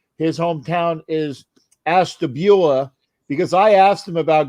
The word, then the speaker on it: Ashtabula: the correct way to say his hometown is Ashtabula, because I asked him about going to Michigan, and that was a great story the other night.